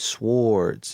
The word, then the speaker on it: sword: And before there were guns, we had to create swords and, different, not swords. I say it how it's spelled. My son always teases me, Dad, it's not a sword, it's a sword. But I'm country.